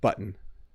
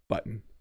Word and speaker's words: button: The ending is like a mute sound. So yeah, it's like the word ends, right? Button. Button.